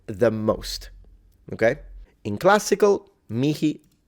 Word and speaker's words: mihi: I would just say that when you pronounce the H in classical Latin, I wouldn't exaggerate it. I would pronounce it as a soft H rather than, like, you don't have to go into like an Arabic sounding H. Just a soft pronunciation, and that's how I would do it.